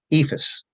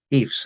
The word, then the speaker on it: EIFS: and the surrounding states uh ifas or eifs as Some people prefer to pronounce it uh isn't um